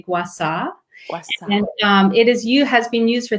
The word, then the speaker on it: Gua Sha: Gua Sha? Well, Gua Sha, but in Chinese medicine and Chinese culture, they would say Gua Sha.